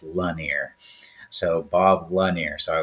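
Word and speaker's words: Lanier: He said it's not Lanir, it's Lanir.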